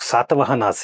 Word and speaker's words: सातवाहन: But at one level it is good also क्योंकि अब बच्चे सतवाहना नहीं कहेंगे, सातवाहन कहेंगे, which is I think how it should be ideally pronounced.